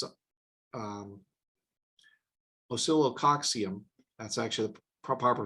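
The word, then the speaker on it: Oscillococcinum: started using it it was it's a um oscillococcium that's actually the proper pronunciation of silicoxium and that is or acillo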